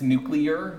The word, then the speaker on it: nuclear: my my one of my pet peeves it's pronouncing this word its nuclear that Newt you're okay so the nuclear mass